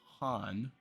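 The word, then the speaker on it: Khan: k-h-a-n they're pronouncing as Han it's like a silent k whereas like when I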